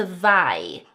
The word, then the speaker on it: zwei: And then the 'zw' saying 'tsv' as in the number zwei (2) (tsvei) spelled like so.